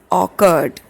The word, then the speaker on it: orchard: It is not orchard, it is orchard, right? The pronunciation is orchard.